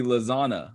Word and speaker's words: lasagna: would be my point if you didn't have the g it'd be lasanna or lazana correct less santa it does influence how you pronounce the word but the g itself you do not pronounce the phonetic g and that was my